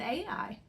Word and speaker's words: Ai: Now, some people say that is pronounced I. I've always heard it called Ai, so that's the way I'm going to pronounce it.